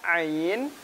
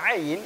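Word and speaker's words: ع: Ingat, pengucapan ain itu suaranya nggak boleh terhenti, bukan nggak. Dia terjepit antara tertahan dan mengalir.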